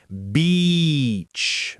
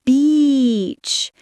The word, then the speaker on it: beach: The word beach has a long e sound. Say it with me. Beach. Make it long. Beach.